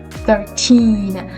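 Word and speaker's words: thirteen: So in here, when you have teen, like 19, 13, the stress part is on the second syllable. And it's really important. So the stress is at the end of the word.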